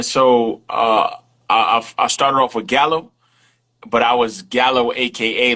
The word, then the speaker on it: Gallo: So Gallo actually is Spanish. It's pronounced Gallo, but Gallo. I pronounce it but I pronounce it Gallo because I'm not Spanish.